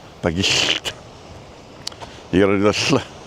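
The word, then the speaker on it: Bagillt: And the second pronunciation is right, but most people in Flintshire say it the first way, I think. Bagilt or Bagilt? Bagilt.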